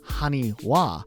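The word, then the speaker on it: haniwa: really clever though because in hiragana which is one of the Japanese alphabets the character ha is sometimes pronounced as W so if you put them together with that adjustment it's honey wa which are those terracotta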